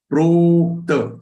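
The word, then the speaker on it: प्रोक्तं: Then in the next charan, prokta. So say complete pro, which is prolonged letter.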